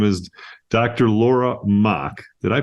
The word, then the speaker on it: Mach: a special guest her name is Dr Laura mock did I pronounce that right you did good job I